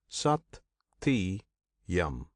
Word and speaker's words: Satyam: And of that Brahman, the name is the true Satyam. This name Satyam consists of three syllables. Sati yam.